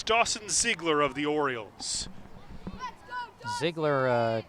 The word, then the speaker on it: Ziegler: And leading off, it's Dawson Ziegler of the Orioles. Ziegler, a 12-year-old, and his name is pronounced as written, which I think was very helpful guidance there.